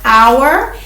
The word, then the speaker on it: hour: a vowel sounds like the word hour even though r begins with an h it makes a sound like a vowel so if a word